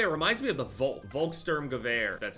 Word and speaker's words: Volkssturmgewehr: The way that it looks anyway, it reminds me of the Volkssturmgewehr. That's how you pronounce it.